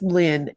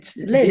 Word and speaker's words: Lynn: Lynn, am I pronouncing your name correctly? It's Lynn. Lynn. It's Lynn. Yeah, the M is for Margaret.